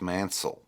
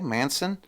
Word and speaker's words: Mancille: nobody could pronounce Mancille. They'd never get it right, And, my brother hates me to this day because I say Mancille. It's pronounced Mancille. But you say that over the phone and everybody's going, what'd you say, Manson? Manson? No, I didn't say Manson.